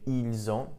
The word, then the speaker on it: ils ont: Ils ont, and notice here we have the liaison, we have a link. So we have ils ont, notice the pronunciation, the S actually does get pronounced this time.